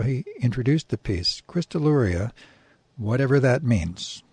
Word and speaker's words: Crystalluria: Crystalluria, whatever that means, pronouncing the double L the Spanish way, though that is incorrect.